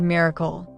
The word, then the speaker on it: MRKL: In May 2022, AI21 Labs published an architecture called MRKL, spelled M R KL, and pronounced on purpose, exactly like the word miracle.